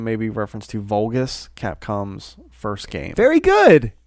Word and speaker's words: Vulgus: Kraken valgus his name may be reference to vulgus Capcom's first game very good you said it